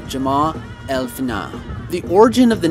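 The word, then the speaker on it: Jemaa el-Fnaa: Medina and the square now forgive my pronunciation I don't speak Arabic but I believe it's Jama elfina the origin of the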